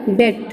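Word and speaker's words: debt: ठीक है, तो बी की प्रोनाउंस नहीं करेंगे, आपका हो जाएगा डेट, या आपका हो जाएगा डाउट, या आपका हो जाएगा क्या हो जाएगा सटल, सबटल।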